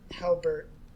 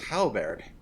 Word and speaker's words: halberd: Halbert. Halbert. I thought it was halberd. That's the Halberd. desk.